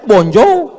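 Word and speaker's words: bonjour: Tulisannya bon jowur. Bacanya bonjou. Bon soir, bonsoa.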